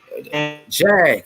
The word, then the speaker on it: Jag: Jag. J-A-G. His name is Jag, like the car.